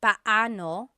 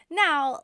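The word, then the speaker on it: paano: It's technically pano. Pano when there are two vocab or when there are two vowels together, you say them separately. But when speaking quickly, Filipinos just say now let's practice using pano and gano in some questions.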